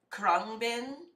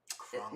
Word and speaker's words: Khruangbin: Okay, it's this band called Khruangbin. Khruangbin. Now, that might be wrong how I pronounce it, but it's spelled like Khruangbin.